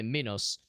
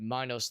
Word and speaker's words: Minos: Probably Minotaur is pronounced with like a kind of softer I, so it's probably Minos.